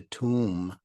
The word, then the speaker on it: tomb: words have been silenced that's what the silent be in Tomb that's why you don't say tomb you say tomb because the B which represents your lips have been silenced is that understood yeah